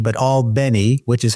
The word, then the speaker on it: Albany: my first job out of FSU was actually all Benny Georgia not Albany but alny which is how they pronounce it and that was uh 1987 so